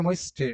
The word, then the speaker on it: möchte: ওকে উচ্চারণটা হবে möchte, ওকে möchte, Okay, mochte.